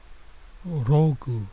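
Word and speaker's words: ログ: uh God freaking Kim rogu Ru like the log because in Japanese they don't pronounce L's Kiko is like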